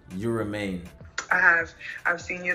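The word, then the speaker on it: Yurumein: You Remain?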